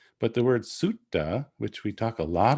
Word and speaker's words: sutta: about a pali discourse we wouldn't really say suta suda we want to say sutta we want to divide the syllable at the double t but here this is